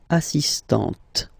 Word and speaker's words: assistante: So don't pronounce the final T here, but for the feminine form, elle est assistante.